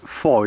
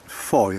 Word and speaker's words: Fowey: I'm more likely to drive to Fowey, or should I say Foy. It's spelt F-O-W-E-Y, but it's pronounced Foy apparently.